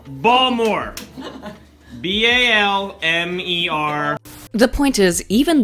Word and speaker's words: Balmer: Pronounce that word. Balmer. Balmer.